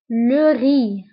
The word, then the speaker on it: le riz: الأرز le riz, le riz. فانتبهوا بالنسبة لو ري كنكتبوه بزاد في آخر الكلمة ولكنها لا تنطق.